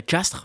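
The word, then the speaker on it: Castres: ils ont fait une finale il faut se prononcer castre mais je crois que je sais pas si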